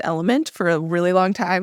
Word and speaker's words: LMNT: It's pronounced Element. For a really long time, we were pronouncing it LMNT, and we felt real silly when we learned that it's Element.